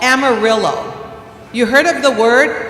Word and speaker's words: amarillo: The word yellow in Spanish is amarillo. Can you say that? Amarillo. It has a double L, and so that's why you say Amarillo, I say amarillo.